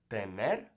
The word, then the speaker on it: tener: roll all right now sometimes if an r by itself is at the end of a letter for example tener we'll roll it here mean to have the net you could also say tener that's fine it's not rolled as strong or tener right either